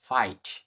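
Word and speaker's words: fight: এল আই জিএসটি লাইট এফ আই জি এইচটি ফাইট তো সুন্দর একটা রুলস এটা এটাও মনে রাখবে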